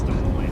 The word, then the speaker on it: Des Moines: a kid so I didn't know how to pronounce it but now I know it's de Mo it's snowing pretty good